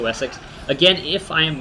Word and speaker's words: West Seax: Again, I'm just going to call it West Seax because I I believe that's how you pronounce my faction. It's West Seax or Seax, but I think they pronounce it Wessex.